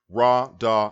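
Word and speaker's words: רדה: This is a verb in the causative stem and the imperfect aspect, third person masculine singular, from the root ra, da, and ha, pronounced rada, meaning to rule or to govern.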